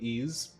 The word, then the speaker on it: Ys: The YS series pronounced like Ease the E series.